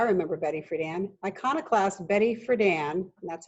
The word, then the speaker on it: Friedan: Iconoclast Betty Friedan, and that's how you pronounce her last name, rejected the notion that biology is destiny in her 1963 revolutionary work, The Feminine Mystique.